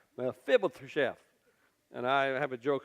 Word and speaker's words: Mephibosheth: So you got to lick your lips if you're going to say it right. Mephibosheth.